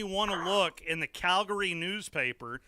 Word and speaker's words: Calgary: to look in the Calgary newspaper it is Calgary not Calgary I are you tell me